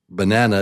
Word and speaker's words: banana: So in this case, it's nah. He says the the uh uh banana is yelling nan. It's basically it. Banana banana. Banana. He's screaming out banana, banana, banana, banana. He's shout he's shouting it. We don't have to shout it. We just say it a little louder, a little clearer uh than the rest of the word.